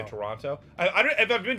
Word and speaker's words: Toronto: I've heard that like that it's kind of more like it's real quick, not like Toronto. Like we say Oh. Toronto.